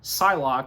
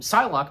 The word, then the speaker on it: Psylocke: no doubt about it the p is silent so so yeah so again one by one recruiting the mutants apocalypse from uh storm psylocke and psylocke being played by Olivia